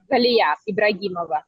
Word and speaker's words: Ibragimova: I have the pleasure of interviewing ibragamova ibrahimova yes nice to meet you I it's just